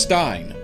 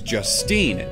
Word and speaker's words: Justine: of wisdom as well the S is highlighted in her name so it's just Steen not just Stine there's no emphasis on the e so your name is Justine that is actually a